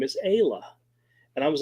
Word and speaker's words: Isla: most people pronounce it Isla. And if it's a double A, they say Ayla. But hers was single A, but she went Ayla anyway.